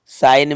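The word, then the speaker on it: sign: साइन में जी साइलेंट है, तो ये यहाँ जी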